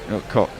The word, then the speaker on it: Koch: I don't know how Donovan Koch pronounces his name either. He might Is it pronounce CH Koch. at the end? Yeah, it's Koch. Cock.